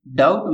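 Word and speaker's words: doubt: तो इसमें यहां पर हम देखेंगे डाउट में वी साइलेंट होता है। वी का उच्चारण नहीं किया जाता है।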